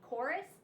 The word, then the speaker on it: chorus: special sounds you have the CH in church and the K and chorus they both look the same but they don't sound the